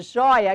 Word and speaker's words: joia: Separar o joio do trigo e a joia, que está nesse caminho, perdeu o acento, continua com sonoridade aberta, mas não mais com acento. Joia, sílaba tônica, jói, não mais acentuada.